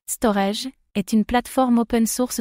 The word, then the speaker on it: Storj: Storge que l'on prononce Storage est une plateforme open source de stockage cloud.